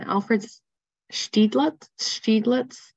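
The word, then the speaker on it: Alfred Stieglitz: And thanks for the pronunciation. Alfred Steiglitz.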